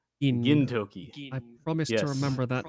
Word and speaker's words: Gintoki: Also the other thing, it's not gin, it's a gin. Gintoki. I promise to remember that with all of my British ability to remember how foreign names are pronounced. Yeah. Yeah, Gintoki.